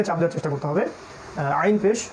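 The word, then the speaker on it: ع: হুদ সূরা হুদ তারপরে আইন আইন ওই যে গলার মাঝখান থেকে এইটা একটু খেয়াল করে উচ্চারণ করতে হবে আইন গলার মাঝখান থেকে আইন এবং এখানে উপরের দিকে একটু চাপ দেওয়ার চেষ্টা করতে হবে আইন পেশ উইন পেশ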